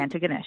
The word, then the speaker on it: Antigonish: town name so so tell me again an Antigonish am I saying it right an ganes yes antes yep okay I like it ant